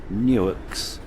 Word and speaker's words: Newark: We then cross the Maryland-Delaware state line, and we travel through one of the US Newarks, pronounced Newark, founded in 1694.